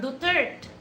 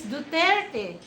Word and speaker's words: Duterte: the presiding judge to wait a minute, he's not Duterte, he's Duterte.